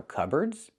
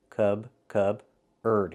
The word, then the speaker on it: cupboard: It's pronounced cupboard. So the P is silent. Cub-erd.